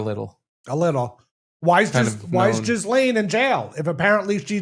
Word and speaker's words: Ghislaine: Ghislaine. Ghislaine? Ghislaine. The S is silent, but the two Z's aren't.